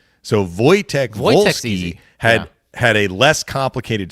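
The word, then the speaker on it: Wolski: I don't remember which, but he spelled his name with a W. Both both first and last names were were like they started with a W. Yeah. But it was Voytech Volski.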